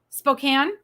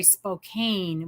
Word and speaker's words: Spokane: There's also a Spokane, Oklahoma, but they call it Spokane. And us in Spokane get our nose out of joint if you say Spokane when you're talking to us.